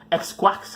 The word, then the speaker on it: Xiques: Xquax, how he says his name, said. It's spelled Xiques.